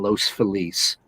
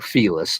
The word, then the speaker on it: Los Feliz: lake echo park in los feliz or felis depending how you want to pronounce it we have uh about